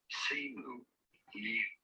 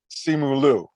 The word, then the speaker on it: Simu Liu: So, how do you pronounce his name? Simu Liu.